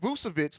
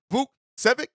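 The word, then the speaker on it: Vukčević: And so Vucevic, I think that's how you say, not Vucevic, like the Bulls player, but it's Vucevic, I think is how you pronounce it.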